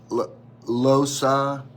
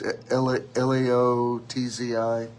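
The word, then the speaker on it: Lao Tzu: Most people agree this probably came from, and I'm probably mispronouncing it, Losci. It's Laotzi.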